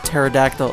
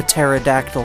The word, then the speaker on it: pterodactyl: I like how a pterodactyl up a pterodactyl comes down that was a joke by the way I know that the P is silent that was the joke